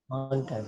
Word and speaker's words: contact: Contact. Okay, Contact. sir. You have to stress one Contact. and just say or you can say utter the second or other syllable lightly.